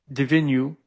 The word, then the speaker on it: Divinu: Divin divinu divinu The like venue. divinu.